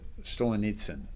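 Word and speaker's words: Solzhenitsyn: uh Stolenets um who was the uh the Stolen Nitsen I believe is how you pronounce it.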